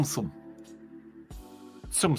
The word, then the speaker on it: Tsum Tsum: But this, the Disney Tsum Tsum. Tsum Tsum. I'm 110% sure that's how you pronounce it. Prove me wrong.